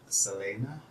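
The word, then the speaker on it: Selene: do that to do technically it should be pronounced like selena but i'll be learning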